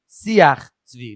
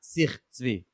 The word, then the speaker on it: Siach Tzvi: Rabbi Brut asked me also, he's gotten feedback that the correct way to pronounce the sefer he spoke about at the end of last episode is Siach Tzvi, not Sich Tzvi.